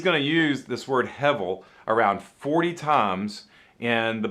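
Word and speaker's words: הבל: pretty right and you want to try to pronounce that it's hevel hevel okay hebel means a vapor or smoke okay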